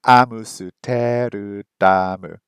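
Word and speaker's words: アムステルダム: Amsterdam. 3 syllables. Amsterdam. Japanese. 7 syllables. Amusuteru damu. Japanese is long, man.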